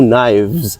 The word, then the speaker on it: knives: With a V sound out at the ending. Two knives.